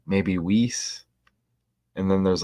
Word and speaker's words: Weiss: saw the last stream how do you say the name name whis or Weiss or was Mary is the first name I looked it up it said like was I don't know I guess there's different